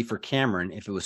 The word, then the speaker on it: Kamrin: Kamrin. It's very exactly how it's spelled, which most people actually turn it around and they say Carmen.